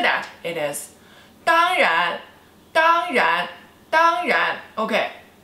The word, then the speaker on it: 当然: It is 当然, 当然, 当然, okay, 当, first tone, and 然, second tone, 当然, of course, 当然, okay, do you wear makeup?